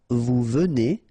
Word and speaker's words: venez: So at the present tense, it's je viens, tu viens, il vient, elle vient, nous venons, vous venez, ils viennent, elles viennent.